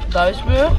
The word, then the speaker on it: Duisburg: Duisburg, Duisburg. Ik vind de uitspraak moeilijk. Hoe spreek je het uit? Of het Duits of het Nederlands? Beide. Duisburg en Duisburg.